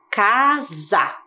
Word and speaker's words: casa: a da mesma maneira só que agora o som é diferente é za casa hum precisamos refletir sobre